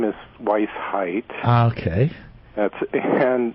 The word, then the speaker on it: Weisheit: You're going to help me with pronunciation here. Good morning, Steve. Yeah, sure. My name is Weisheit.